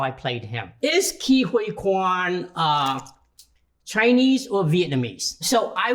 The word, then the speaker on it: Ke Huy Quan: How to say Ke Huy Quan's name? I am so glad you asked this question. My name is pronounced Ke Huy Quan.